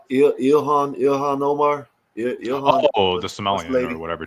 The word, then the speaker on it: Ilhan Omar: that they should deport him, like him and Elon Omar and all them. They're trying to deport Elon. him. What did Elon do? Not. I don't know how you call it. How you say her name? Ilhan Omar.